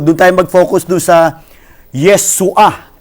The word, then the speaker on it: Yeshua: Doon sa Hebrew, doon tayo mag-focus doon sa Yeshua. Mali po yung kanyang pronunciation Ang sabi niya, ano sabi niya? Ang sabi niya, Yaswa. Katunog ng miswa.